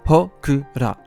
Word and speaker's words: Hokura: Un passage du Nihongi, ou autrement appelé Nihon Shoki de 720, note d'ailleurs qu'un entrepôt de sanctuaire, Kami-kura, se prononce Hokura.